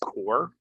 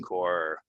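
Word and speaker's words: corps: again this word pronounced core so like the Marine Core uh it's a silent P um so if you're talking about you know the Marine Core the Army Core of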